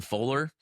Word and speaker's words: Foeller: Now, I mean, I'm not saying that Aidan Fowler, and by the way, it's spelled Foeller.